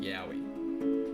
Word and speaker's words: Yawi: Lastly, there exists the word Yowie, which is pronounced almost the same as the term Yowie.